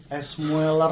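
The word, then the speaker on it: Müller: Jadi ada kan biasanya iya karena di U-nya kan ada titik dua kan. Heeh. Oh iya sih benar anjir. Oke. Kan IG-nya namanya mueler kan bacanya mueler tnya etnya kan Thomas.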